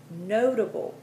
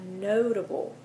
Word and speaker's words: notable: essential 23 previous 24 notable you pronounced that notable the root word is note but you drop that that's silent e when you add a ble on the end so that is notable 25 elevate 26 justified